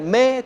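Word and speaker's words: μή: El 3361 es el me, se pronuncia me.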